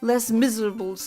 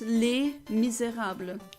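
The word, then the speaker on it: Les Misérables: And I hate it when people say Les Miserables. No, it's Les Miserables. It's not Les Miserables. That's not how you pronounce it in French.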